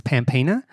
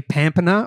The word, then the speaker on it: Pampena: it's actually pronounced yeah i grew up thinking that it was pampina because that's the australian english pronunciation yeah but it's actually pampana or in italian pompano so it's from italy